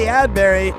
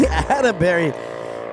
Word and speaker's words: Adberry: and Addie Adbury. Addie Adberry. I got to get that that one last little syllable in there.